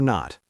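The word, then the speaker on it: know: Is the underlined letter silent or not? Ready? Ready. K N O W. Is the K silent? Yes. You just say no. The K is silent. No sounds exactly like no.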